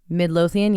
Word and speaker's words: Midlothian: Midlothian, yes, Texas, which was actually her and her family's home church.